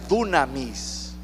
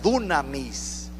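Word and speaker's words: δύναμις: poder de su resurrección esta palabra poder en griego se pronuncia dunamis dunamis significa habilidad capacidad valor poder para hacer Milagros se lo voy a repetir esta palabra poder se pronuncia dunamis que significa habilidad capacidad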